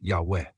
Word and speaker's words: Yahweh: Yahweh, pronounced Yahweh.